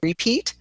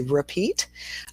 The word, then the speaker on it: repeat: So repeat is like between. So you've got that instead of saying repeat, we say repeat.